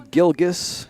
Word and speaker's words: Gilgus: Apologize to Macy Gilgus and her family and the entire Bulldog universe. It's a hard G. It is a hard hard G.